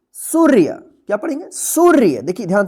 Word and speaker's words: सूर्य: रेफ की मात्रा है, तो इस रेफ का मात्रा जो है ना उच्चारण होगा सु के बाद, तो क्या पढ़ेंगे इसको, सूर्य, क्या पढ़ेंगे, सूर्य।